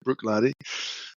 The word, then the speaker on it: Bruichladdich: He said he was from Bruichladdich, he pronounced it Bruichladdich, and he said, "I'd like to meet you.